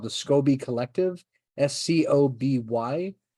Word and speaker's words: SCOBY: called the Scoby Collective, SCOBY. I think they pronounce it Scooby, but being an American raised on Hanna-Barbera cartoons, Scooby makes me think of Scooby-Doo, so I say Scoby.